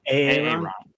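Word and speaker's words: Aaero: On the Xbox One, from October 1st to October 31st, the entire month, you can get, I believe it is pronounced Aero? Aero? A-A-E-R-O. Aero. Yes, exactly.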